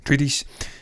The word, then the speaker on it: Atreides: I wasn't aware of her connections with Paul Atreides. Yeah. Atreides, because I get that wrong as well.